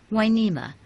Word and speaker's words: Hueneme: to the Spanish version winema spelled with an H and you to make the W sound the wharf brought life